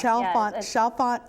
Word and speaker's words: Chalfont: Lynellen, you are president of Chalfont House Publishing. Am I pronouncing that right? Chalfont? Chalfont House. Chalfont right. House Publishing. Like Chantilly. Okay. We don't say Chantilly. Chalfont House, yeah.